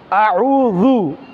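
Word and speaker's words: أعوذ: হচ্ছে জু আউ জু জাল নরম করে উচ্চারণ করতে হয় জিহ্বার আঘাত সামনের উপরে দুই দাঁতের আগার সঙ্গে লাগিয়ে উচ্চারণ করতে হয় আর জিম জিহ্বার মধ্যভাগ তালুর মধ্যভাগ থেকে উচ্চারণ করতে হয় তাহলে দুইটার মাখরাজ ভিন্ন জিম শক্ত করে জাল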